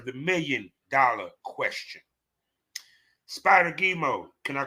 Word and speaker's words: Gemo: before I forget the other half of my name gimo uh pronounce it pronounce it it's G so like a so like for an example maniac mgee just say it like that uh so gimo basically